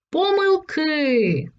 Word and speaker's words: помилки: помилки так лише один адже це слово можна вимовляти тільки так помилки Спробуй повторити запам’ятай правило